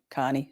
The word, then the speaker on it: Kearney: Oh my God, it's just not that hard to say Carney.